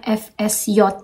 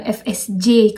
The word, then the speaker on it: FSJ: Jadi FSJ itu FSJ sama ya teman-teman, cuma kalau di bahasa Jerman J itu dibacanya J, jadi makanya kita nyebutnya FSJ bukan FSJ kalau di bahasa Jerman.